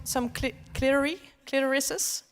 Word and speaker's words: clitoris: The emphasis is on the first. How do you say it? Clitoris. Clitoris. No, it is clitoris. I would say the first yes.